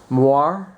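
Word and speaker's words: moiré: it's moire. I have no idea how it's It's pronounced.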